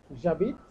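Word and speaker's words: J'habite: জাবিদ আনসারটা হলো জাবিদ জাবিদ যে অ্যাপোস্ট্রপ এইচ এ বি আই টি হ্যাঁ উচ্চারণটা হলো জাবিদ জাবিদ জাবিদ আ পা আগি কিভাবে হলো উচ্চারণটা দেখুন ই তো আমরা নাচটা উচ্চারণ করবো না তাহলে আবিদ টি পর্যন্ত থেমে গেছে তাহলে জাবিদ এন্ড দেন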